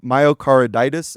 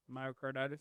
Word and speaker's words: myocarditis: The veyers and DoD data that Rand Paul subcommittee obtained revealed a 20 times higher rate of myocaroditis. Am I pronouncing that correctly? Yeah, myocarditis.